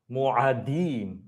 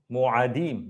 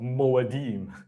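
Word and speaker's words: מועדים: The The plural of mo'ed is mo'adim. Mo'adim, not mo'edim.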